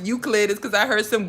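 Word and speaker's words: Euclid: And then first of all, the only reason why I know it's pronounced Uklid is cuz I heard some girl from Brooklyn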